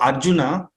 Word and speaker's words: Arjuna: the time Arjuna now children don't say original water no no it's Arjuna uh thank